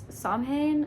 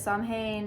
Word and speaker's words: Samhain: It's Samhain, I think that's how you pronounce it.